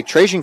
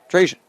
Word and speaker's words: Trajan: A great play there to win possession by Trajan Cannon. Or Traylon Cannon. Trajan. Accidentally read an L on the pronunciation sheet there.